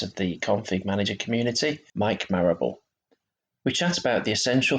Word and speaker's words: Marable: in the community, Mike Marable. Now, I've pronounced your last name right there, have I, Mike? Yep, you got it spot on there. Yeah, it's not Marable or anything like that. Marable.